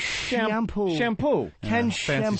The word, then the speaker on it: Chiampou: And Ken Chiampou. CHIAMPOU. It's shampoo.